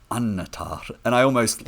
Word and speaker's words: Annatar: the end of Silmarillion, a double consonant like that you stress, so like melon or annatar, and you always tap the r in the words.